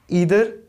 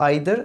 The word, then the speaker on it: either: Negative में केवल हमारे पास दो ही वर्ड्स हैं, ईदर एंड नीदर, जिसको आप आइदर एंड नाइदर भी प्रोनाउंस करते हैं।